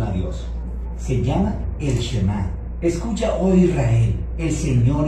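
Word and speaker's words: שמע: La primera palabra del Shema es oye o escucha, y en hebreo se pronuncia Shema.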